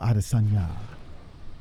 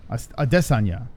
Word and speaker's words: Adesanya: So, all right, let's see what the chat says about the situation with Israel Adesanya. Adesanya.